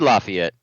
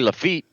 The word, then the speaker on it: Lafayette: justify it's laughing yet i said lafayette they said it wrong again said it wrong again i didn't say lafitte that's a whole different place i know it is